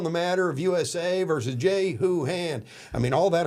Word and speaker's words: Jehu: "I've been told by my staff that I'm mispronouncing the defendant's name." Okay. And it really is Jehu.